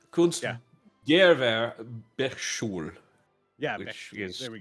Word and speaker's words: Kunstgewerbeschule: Kunstgewehr. No, there's no H. Kunstgewerbeschule.